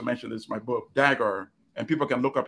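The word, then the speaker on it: Dagher: The reporter's name is Sam, because I also mentioned this in my book, Dagger, and people can look up his articles. His last name is spelled D-A-G-H-E-R.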